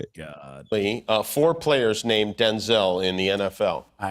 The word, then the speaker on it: Denzel: Because wait a minute, because my name's not pronounced Denzel. My name's pronounced Denzel.